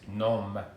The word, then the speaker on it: nom: And the other day I was talking about several people's names, and the French word for name is nom, N-O-M, but you pronounce it non, son nom.